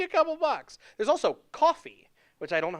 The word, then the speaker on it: Ko-fi: There's also Ko-fi, which I don't know how it's spelled. I think it's coffee with a K. Is it? Ko-fi.